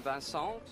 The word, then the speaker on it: Vincent: It's not the best dive I've seen from Vincent. He cut his takeoff. Oh, sorry, that was the French pronunciation of Vincent. Let's anglicize it.